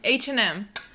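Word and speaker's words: H&M: H & M. Chỉ cần phát âm hai chữ cái như chúng trong bảng chữ cái tiếng Anh.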